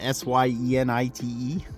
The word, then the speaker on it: syenite: Azul Bahia, which is a, I'm not sure how to pronounce it, S-Y-E-N-I-T-E, syenite.